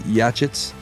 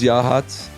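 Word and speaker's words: Yachats: Oregon coast and that is none other than yah hats Oregon yah hats some people pronounce it yits but it is yah hats it is on the Central orgon Coast it's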